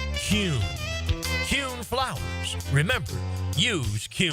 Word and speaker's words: Kuhn: And now I'm going to share the absolute right way to pronounce Kuhn flowers. It's Kuhn.